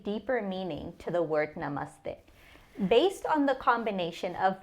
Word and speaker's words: namaste: Namaste is made up of two words nama and the nama means bow and the means you. So namas is derived from nama and then we get namaste.